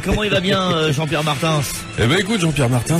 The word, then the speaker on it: Martins: Alors, mais moi, je tiens à ce que le S se prononce même en français. Merci, monsieur Martins. Mais je vous en prie. Martins.